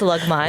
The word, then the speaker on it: Lagman: That's actually how you say it. It's Lugman.